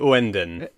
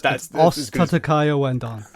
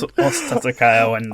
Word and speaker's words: Ouendan: I've got Osu Tatake Wendon. It's oaton. Oh god. Oaten.